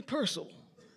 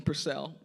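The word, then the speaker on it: Purcell: a a a um European composer named Henry Pcel or those that don't know music and pronounce his name PCEL but it's actually pronounced Pcel and I'm sure I have some hands that that know Henry Pcel.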